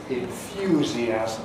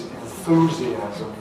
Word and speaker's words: enthusiasm: Or enthusiasm, as I pronounce it, which is enthusiasm in American English.